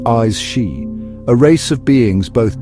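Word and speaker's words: Aes Sídhe: In the heart of the Celtic otherworld, veiled from ordinary sight, dwell the AE seed, pronounced eyes she, a race of beings,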